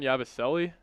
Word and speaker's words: Yabusele: Gershon Yabusele.